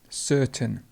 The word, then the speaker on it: certain: ceremony certain certain and the schwa would be over the a so we would have a schwa just here certain and you could also